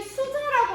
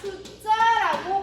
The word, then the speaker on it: 숫자: 얘 수자라고 아무도 발음 안 하지. 어떻게 발음한다? 숫자라고 발음을 해.